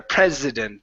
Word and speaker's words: president: a country, this is prez with a voiced S there, president. The other one is precedent. So the other one has an unvoiced S or S sound, even though it's a C.